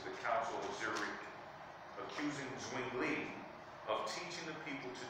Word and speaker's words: Zwingli: How did he pronounce that? Zwingli.